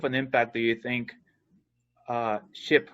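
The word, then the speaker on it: SHPE: So how much of an impact do you think SHIP, because that's how you say it, right?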